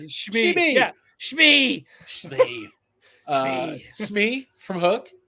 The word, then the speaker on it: Shmi: I said her name wrong. Shimi. I'm tired. Shmi.